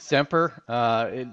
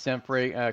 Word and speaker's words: SEMPRE: Well, thank you, and we pronounce it SEMPRE, although it does get pronounced SEMPRE quite often.